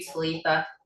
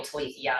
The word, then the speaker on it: Titha: I mean, I'll be somewhere and somebody will come up and be like, "Are you Titha?" Which they usually call me Tithia because that's how my name is spelled.